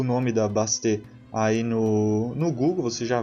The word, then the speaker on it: Bastet: E uma coisa bastante interessante é que no Egito existia uma deusa chamada Bast, ou Bastet, na verdade, né? Que se pronuncia.